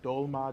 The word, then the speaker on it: Drolma: Drolma is Tara's name in Tibetan. Drolma or Dolma, depending on the pronunciation, but in Tibetan, Dolma means, Dol actually, or Drol means to liberate.